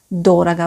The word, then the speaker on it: дорого: d'ordre c'est un adverbe dorada vous avez remarqué l'accent tonique et les sureaux sur le premier au dorat gars c'est